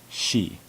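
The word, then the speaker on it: し: she to say so notice that there is no see it's pronounced she this is the first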